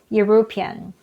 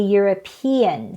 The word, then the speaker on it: European: Many students pronounce this as European. European. but it should be European. Stress is on the third syllable.